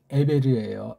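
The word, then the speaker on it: עבר: 요 사이에 있는 게 바로 여기 있는 에베르예요. 에베르. 아인 베이트 레이슈. 에베르.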